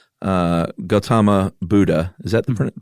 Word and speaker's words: Gautama: to the point where there's just not uh Gautama Buddha is that the pronunciation you used yeah Gautama is everything I saw yeah Gautama Buddha uh